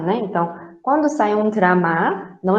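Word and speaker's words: 드라마: O drama, no coreano é drama, tá? Não é dorama. Tudo bem? Drama. Os seus alunos, por favor, ninguém falando dorama, tá? Dorama é japonês, tá? Os japoneses não conseguem pronunciar o U, então eles colocaram o, tá bom?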